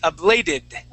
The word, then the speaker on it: ablated: here please abil good yes that's the did ending so we say ablated a bladed abled all